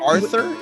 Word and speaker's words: Aurthur: And it's Aurthur? Is that how you say it? Yep, it's my grandfather, my great-grandfather stuck in a U just to fucking ruin my life.